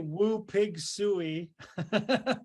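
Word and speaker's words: Woo Pig Sooie: When I say woo pig suey, what emotions come to mind?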